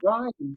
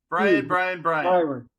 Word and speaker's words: Bryon: Oh, it's Bryon, by the way. Huh? You said it right the first time. You said it right the first time. Bryon. Oh. But then you put no. 90%. Byron.